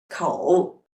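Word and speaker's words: 口: for example the character for mouth and tree pronounced as Co and moo and the second way is to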